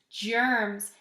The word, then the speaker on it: germs: about that Jeff earns germs sounds like a J but it's a soft G so remember that sometimes